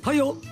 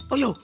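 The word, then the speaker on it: Häyhä: Soldat considéré comme étant le meilleur tireur d'élite de toute l'histoire s'appelait Simo Hoyo. Je le prononce comme ça. Ça s'écrit H A Trema Yhema. Je dis Oho.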